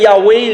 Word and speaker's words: Yahweh: Yahvé, on le prononce Yahvé, Yahweh, les Hébreux le prononcent plus Yahweh, qui veut dire « Je suis ».